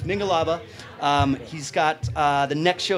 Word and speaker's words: Mingalaba: called mingalaba mingle love I think I've mispronounced it today so it's mingalaba he's got the next